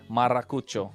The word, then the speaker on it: Maracucho: I mean, we've been pronouncing his name a little difficultly. It took some time, but hey, you're forgetting to roll the R, man. Hey, man, we warmed up to his... Maracucho.